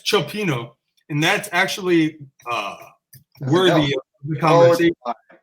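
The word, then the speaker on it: Cioppino: Clopino. No, that's Clopino. that's Chopino, and that's actually worthy of the conversation.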